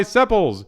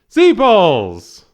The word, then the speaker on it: sepals: You're pronouncing them wrong. How do you pronounce them? Seepals. I knew that.